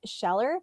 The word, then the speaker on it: Scheller: Uh, I generally pronounce it Sheller, but I know there's other people with the name that pronounce it differently, so no worries there.